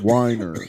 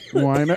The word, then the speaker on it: Wiener: It's some people are like stuck up and they're like, it's pronounced whiner. Wiener.